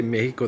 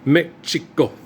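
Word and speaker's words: México: In Mexico, you don't say Mexico. That's foreign. It's Mexico. Okay.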